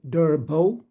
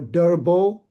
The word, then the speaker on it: Derbo: My first name is pronounced Derbo like D E R B O and my last name is. The E at the end is silent. So Durbo just to make